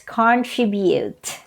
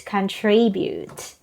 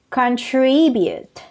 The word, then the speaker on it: contribute: pronounce this word as contribute do you pronounce that way to i used to pronounce that way but the correct pronunciation of that word is contribute the stress is on the second syllable non-form is on the